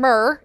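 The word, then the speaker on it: Mehr: Mac it's Emmy HR I've heard it pronounced Mayer and mer either way it's just so like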